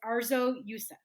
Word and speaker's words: Arzo Yusuf: So, your full name is Arzo Yusuf, Yes, right? that's Praying for I correct. want to pronounce it correctly.